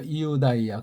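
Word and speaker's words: Ἰουδαία: 이우다이야. 근데 여기 우는 이제 글자가 없어가지고 만들었기 때문에 이자랑 우자는 떼어서 발음해야 돼요. 이우라고 하셔야 된다고요.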